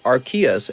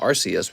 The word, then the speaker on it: Arceus: go did you know nintendo says it's pronounced archaeas and not rcs because they don't want kids to end up saying arse really there we go